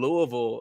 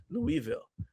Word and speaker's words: Louisville: But technically, that's closer to the correct pronunciation anyway because technically it's French. It's Louisville, right? It's just that they say Louisville here.